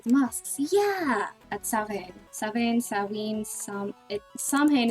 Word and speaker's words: Samhain: Samhain, Samhain is definitely the wrong pronunciation. I've always heard Samhain, but the more I learn about Gaelic, the more I'm like, that should be a V, not a W.